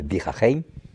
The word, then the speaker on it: Bir Hakeim: là, de Bir Hakeim, je le prononce à l'arabe, de Bir Hakeim.